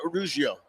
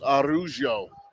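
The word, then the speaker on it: Araujo: Anton Ruggiero. 2nd and 12 for the Irish. And that name is spelled A-R-A-U-J-O, so it's Arugio.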